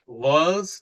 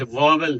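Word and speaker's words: vowels: ठीक है, नेक्स्ट है ये ध्यान रखिए बिकॉज वॉल्स का प्रोनाउंस वॉवल नहीं, वॉल्स। ठीक है, वॉल्स है, वॉवल्स नहीं बोले जाते, सो वॉल्स का प्रोनाउंसिएशन ठीक होना चाहिए।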